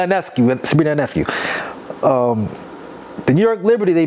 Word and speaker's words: Ionescu: Look at Sabrina Agaskis. I think I pronounced her last name wrong. I'm sorry. Sabrina Ionescu.